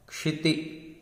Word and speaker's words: क्षिति: तुभ्यम नमः क्षिति क्ष आधा क और श षटकोण का मिला तो बना क्ष क्षमा। इंग्लिश में भी हम रखते हैं KSH क्ष।